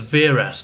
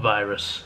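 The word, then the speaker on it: Viras: up mispronunciations from the previous movie was Varys not virus so yes said that wrong as well but never mind moving on so chimeric gamera vs.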